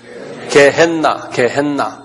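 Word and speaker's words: Gehenna: 게헨나. N이 두 개예요. 그래서 게헨나. 이렇게요.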